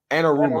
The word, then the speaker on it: Anarumo: Anarumo. Anaramo.